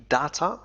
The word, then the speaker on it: data: استخدم data أو data، فهذه الكلمة تنطق ب data وكذلك data، لكن النطق الشائع هو data.